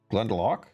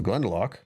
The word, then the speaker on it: Glendalough: She said Glendalough. It's the Lough, which is like, I don't know how to pronounce this. This is a Celtic weirdness. So Glendalough.